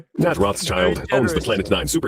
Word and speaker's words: Rothschild: Rothschild, okay? For all the Americans and all the others, it's Rothschild, like a shield. Protect yourself. Rothschild.